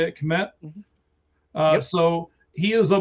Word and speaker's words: Kmet: Is that how you say it, Kmet?